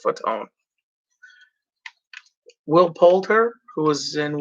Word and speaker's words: Fatone: bateman was in the movie ariel winter joey fatone i was that close to saying fat one i really was i really was but it's pronounced foot's own will polter who was in where the millers